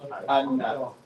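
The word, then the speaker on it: أنا: All right, and this one, you see where it says Aleph is silent, so we just say Anna.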